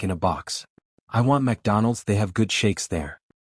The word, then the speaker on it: McDonald's: support but found none it's McDonald's you fried battery not MacDonald's Mina laughed n no